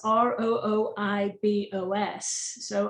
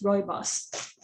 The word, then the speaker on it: Rooibos: meant to be pronounced it's meant to be pronounced almost like roy and then boss roibos um and it's been